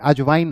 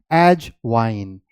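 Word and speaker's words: ajwain: carom seeds ना कहकर आप इसे एज वाइन अजवाइन हम जब बोलेंगे तो अजवाइन बोलेंगे है ना लेकिन जो इंग्लिश इसकी प्रोनंसिएशन है जो आपको और हमको फॉलो करना है वो क्या है एज वाइन एज वाइन okay so दैट्ची कि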